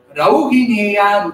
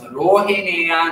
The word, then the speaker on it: Rauhineya: Rauhineya Rujachitam. If we pronounce this word wrongly, it becomes Rohineya Rujachitam.